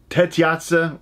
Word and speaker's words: Tetsuya: I always say his first name wrong. It's Tetsuya. I know.